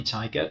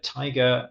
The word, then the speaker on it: Taiga: Not the stripy tiger. Taiga, I think, it's a type of plant.